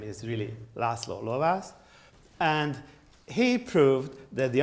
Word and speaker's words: László Lovász: And then there came László Lovász. You know, so this is a fellow Hungarian, so the pronunciation of his name is really László Lovász.